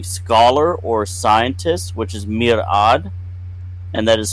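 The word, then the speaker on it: mir'ad: number one being scholar or scientist which is Mirad and that is spelled m iir Fon or Apostrophe a d and again that is Mirad we have leadership or command that is alom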